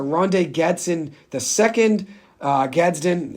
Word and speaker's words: Gadsden: getson the second uh Gadsden is how you actually pronounce it excuse me for uh butchering